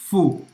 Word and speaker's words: faut: Il faut. A-U em francês tem o som do O. E o T é mudo. Faut. Então, il faut étudier tous les jours pour progresser.